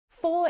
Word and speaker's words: for: Four is usually unstressed, and again, it's that vowel sound that reduces to the schwa. Instead of four, you hear f, f, f.